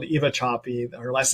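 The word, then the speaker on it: Sapi: 6 years ago by a researcher called Eva Chapi. Her last name is spelled S-A-P-I.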